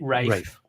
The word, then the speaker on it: Ralph: Ralph Fiennes, of course. Or is it Ralph Fiennes? Ray. Well, I think one pronounces it Rafe.